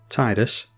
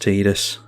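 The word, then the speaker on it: Tidus: Tifa Lockhart versus Animpal Titus and Cotus. Yes, I know it's pronounced Tedus.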